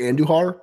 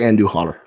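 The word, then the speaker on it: Andújar: I'm gonna say Andujar because I do speak a little bit of the Spanish tongue. I'm gonna say Andujar, silent J.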